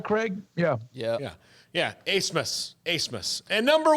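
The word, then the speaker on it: Abmas: Brett Favre before him, has convinced everybody to say his name a different way than it's spelled, and I respect that.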